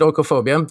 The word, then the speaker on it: oikophobia: pronounce it by the way yeah i would pronounce it orcophobia just as you did and uh orcophobia is